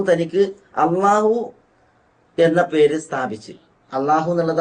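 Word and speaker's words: الله: ഇലാഹും കൂടിയതാണ് അൽ ഇലാഹ് പക്ഷേ ഉച്ചാരണത്തിന്റെ എളുപ്പത്തിന് വേണ്ടിയിട്ട് ഇ എന്നുള്ളത് കളഞ്ഞു പോവുകയും അങ്ങനെ അള്ളാ എന്നുള്ളത് ഉച്ചാരണത്തിൽ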